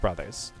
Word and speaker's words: Bros.: But if it's B R O S with the dot, that's an abbreviation and that is pronounced brothers.